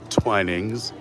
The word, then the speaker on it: Twinings: From the Twinings family, we learned that is the proper pronunciation. Twinings.